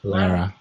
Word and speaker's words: Lara: a laura or laura i always say wrong Heidi pronounce it Lara cuz la la right mrs.